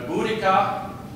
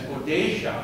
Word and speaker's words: Boudica: English Queen was Queen boudica her name was mispronounced for quite a while as bodeisha and and that's where